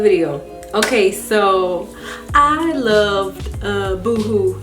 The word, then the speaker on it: Boohoo: Okay, so I loved Boohoo. I want to say that's how you say it because it's not Boho because it's two O's.